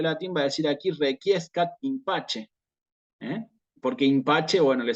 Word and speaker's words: requiescat: No requiescat, requiescat. ¿Sí? Entonces, estos bloques de palabras como quique, requiem, requiescat, permiten trabajar, ¿sí? Este tema de la Q con la U. Hay que pronunciarlas. ¿Sí? Requiem, quique, requiescat.